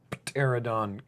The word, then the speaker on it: Pterodon: Pterodon Knight. Okay. So many silent letters. I know, both words.